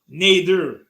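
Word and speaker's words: Nader: you still rocking with me it's n-a-d-e-r neither yeah so um so sunday's games bengals and pronounced joe burrow will not play who you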